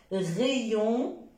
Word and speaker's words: rayon: Rayon, crayon. Attention, il y a des personnes qui prononcent crayon. C'est faux. Parce que AY, c'est comme A-I. S'il vous plaît, évitez de prononcer A, c'est E. Crayon, rayon.